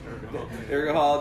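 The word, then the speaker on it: Urgehal: How do you pronounce it? Urgahol? Urgahol, definitely for them.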